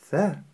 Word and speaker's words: ث: и три точки сверху Теперь давайте научимся правильно произносить букву С буква са так называемая межзубная буква са это потому что кончик языка расположен во время произнесения между передними зубами - это мягкий звук